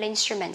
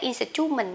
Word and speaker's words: instrument: Nhưng mà mình không đọc là instrument hay là instrument nhá. À, cái này sẽ đọc là instrument. Instrument. Âm ơ đọc rất là nhanh nha lớp mình nhá.